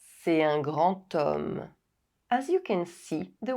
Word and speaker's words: homme: C'est un grand homme. C'est un grand homme. As you can see, the word homme starts with the consonant H, but as H is silent, the word starts with the vowel sound O.